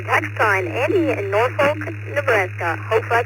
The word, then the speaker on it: Norfolk: Uh yeah, over on the east coast you guys pronounce the L.